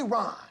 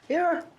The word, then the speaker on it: Aaron: A Aon. Aaron.